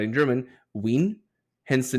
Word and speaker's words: Wien: That must be how you pronounce it if Wiener and Wienerwurst are pronounced the way they are. Well, that's why I went with Wien.